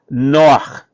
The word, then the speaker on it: נֹחַ: Noach.